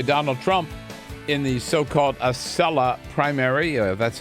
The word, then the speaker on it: Acela: big blowout by Donald Trump in the so-called Acela primary. That's how you pronounce it.